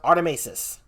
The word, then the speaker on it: Artimeises: We can call him Arti though, but it's pronounced Artimeises.